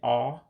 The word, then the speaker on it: ọ: All right, the O character with the dot underneath, as you know, we call those diacritics. And so that dot underneath gives it a different pronunciation. So the O actually becomes ah, just like auto. And so that's why you hear me saying ah, which means it.